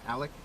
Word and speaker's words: Alek: Alec.